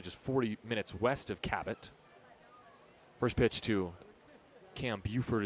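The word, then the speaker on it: Cabot: Yes, that's how you pronounce the town. Cab B O T. Not Kabo, not Kbot. It's Kat.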